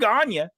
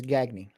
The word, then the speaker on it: Gagne: ganya I could do gonya and some of those names though I cannot well you know that the proper pronunciation of that is gagny gag me yes gagne